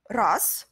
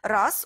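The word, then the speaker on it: раз: Race, oui, très bon exemple. Race, on écrit R-A-Z, mais Z, on prononce comme S, et ça devient race.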